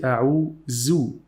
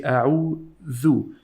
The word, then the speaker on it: أعوذ: We don't say أعوذ. We say أعوذ. Your tongue should get out and touch the upper teeth this way.